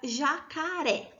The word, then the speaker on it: jacaré: Por exemplo, a palavra jacaré. Olha só, jacaré. A sílaba tônica está no ré, que é a última sílaba da palavra, e por isso ela é uma palavra oxítona.